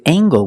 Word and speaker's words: angle: and this word angle with angle we pronounce the hard g-g sound angle angle use the long a angle this is a